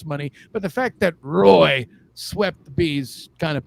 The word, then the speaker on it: Roy: it's just because Patrick Roy yeah I know it's pronounced wall shut up Roy was